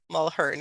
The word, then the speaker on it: Mulharen: Mulharen, yeah, the A is silent at the end.